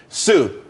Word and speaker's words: TSU: everyone could be happy Sue TSU it's pronounced Sue though that's a that's